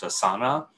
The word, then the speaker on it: Asana: I think the company's name is pronounced Asana.